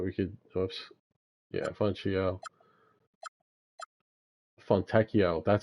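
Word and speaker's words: Fontecchio: Fontechio, that's how you say it. I was like, what? I knew I remembered his pronunciation, but yeah, it didn't come back to me until just now.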